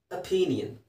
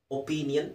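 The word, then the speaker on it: opinion: Neutral ಆದಮೇಲೆ ಅಪೀನಿಯನ್, ಒ ಪಿ ಐ ಎನ್ ಐ ಒ ಎನ್, ಅಪೀನಿಯನ್, ಒಪೀನಿಯನ್ ಅಂತಲೂ ಹೇಳ್ಬೋದು. ಅ ಹೇಳೋದು ಸರಿಯಾದ ಉಚ್ಚಾರಣೆ, ಅಪೀನಿಯನ್. ಈಗ ಆನಿಯನ್ ಅಂತ ಹೇಳೋದ್ರ ಬದಲು ಅನಿಯನ್ ಅಂತ ಹೇಳ್ತಾರಲ್ಲ, ಹಾಗೆಯೇ ಅಪೀನಿಯನ್, ಅಪೀನಿಯನ್.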